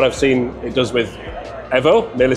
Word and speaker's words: EVO: developers of Assetto Corsa EVO or EVO? EVO. Why EVO? Because we want to keep the Italian pronounce of this word, that means evoluzione.